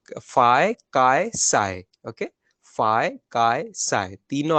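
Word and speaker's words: ψ: अगले वाला में पी सिंबल साइलेंट है, तो फाय, काय, साय, ओके?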